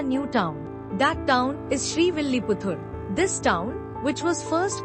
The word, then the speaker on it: Srivilliputtur: The name is pronounced as Srivilliputturu.